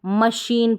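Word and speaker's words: machine: मशीन नहीं पढ़ेंगे इसको मशीन पढ़ेंगे तो इन दो स्पेलिंग्स में रेयर स्पेलिंग्स होती है बहुत कम स्पेलिंग्स होती है जहां पर जो है है श पढ़ा जाए जैसे मशीन में और शिफॉन में तो ये आप ऐसे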